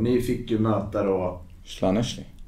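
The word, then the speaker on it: Llanelli: Slaneshli. Ja, det klarade ju uttalet. Nej, men... Perfekt. Jag vågar inte på med det. Nej, det stavas inte så, men det är uttalat så.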